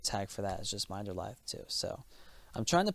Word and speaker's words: Minderlithe: I did put the pronunciation on my Facebook, but it's Minderlithe.